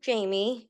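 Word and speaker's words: Jaime: so I am so my name is pronounced Jamie it's Spanish so it's you're fine you're fine um it's Spanish so it's spelled that way um I am from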